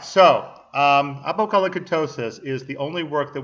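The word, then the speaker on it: Apocolocyntosis: really unpronounceable name, so let me give you another run through once again, very slowly, of this name, Apokalakintosis. Once again, Apokalakintosis. It's not actually that hard to say. All right, so Apokalakintosis is the only work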